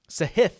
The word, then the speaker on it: Sahith: that have played well sahith sahith i believe is how he actually pronounces it so t3 in phoenix